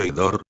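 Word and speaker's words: ὕδωρ: sustantivo neutro significa agua se pronuncia como hedor aspirando la h lectura bíblica evangelio según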